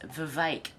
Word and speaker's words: Vivek: I've heard him say his name is Vivek, like cake.